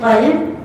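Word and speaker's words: قلب: So one of the examples is qalb, qaf. You can see I pronounced it very heavy. I said it like qalb.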